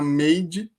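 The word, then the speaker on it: Maid: bem legal, do Netflix, chama Made, se escreve, né, soletrando aqui, M-A-I-D.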